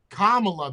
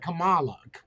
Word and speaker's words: Kamala: no he's saying it Kamala it's Kamala listen Kamala that's the correct way to say it she's saying it the way I say it pronounced Queen kamala's name watch this demented see cuz she just said Camala carry on Camala Harris see Camala Harris that's